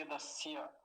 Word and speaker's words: यदस्य: बस इस दंत्य सकार का ध्यान रखेंगे, आधा है आधा ही रखेंगे और दंत्य ही बना के रखेंगे, तालव्य नहीं बनाएंगे इसका, यदस्य।